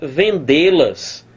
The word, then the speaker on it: vendê-las: Mas peraí, a pronúncia toda é vendê-las. Vendê-las, ó. Então você tem aqui, ó, sílaba tônica aqui, o D, é uma oxítona, portanto. Uma oxítona, portanto, terminada em quê? Terminada em E.